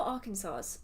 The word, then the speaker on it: Arkansas: Atlanta, Slovakia, Connecticut, New York City, Virginia, Chicago, Carolina, Nottingham, Greece, Boston, Kansas, Ohio, Arkansas. Is it Arkansas or Arkansas?